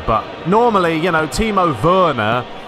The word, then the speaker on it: Werner: normally you know timo verna i'm going off of the the german pronunciation of verna we don't call him werner you know that's that sounds a little bit wrong anyway so i think